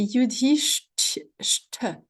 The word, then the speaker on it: Yudhishthira: Donc, petit point sur la prononciation. Hein, c'est Yudhishthira. Hein, donc, on a un ch, donc avec la langue qui remonte derrière le palais, ch, suivi d'un ch.